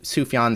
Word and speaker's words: Sufjan: Su Sufyan Stevens. It's spelled S U F J A N.